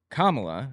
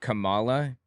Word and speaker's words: Kamala: and then became VP I thought her name was Kamala also I didn't realize it's pronounced differently when I figured out it was Kamala I just started pronouncing